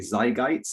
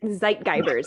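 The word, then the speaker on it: Zeitgeber: And these are kind of called, if I pronounce it correctly, Zeitgeists in the research, right? Zeitgeibers, yeah.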